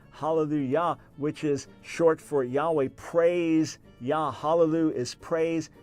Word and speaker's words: Yahweh: and things like that we don't know for sure if his name is pronounced Yahweh I can tell you for sure it wasn't pronounced Jehovah but either way the